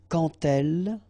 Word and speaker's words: quand elle: So like that, quand elle, all right, same rule here. Remember, when you will have this D, you will phonetically pronounce it like T.